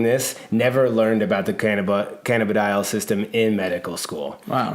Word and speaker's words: cannabidiol: So basically, cannabidiol is how you say it.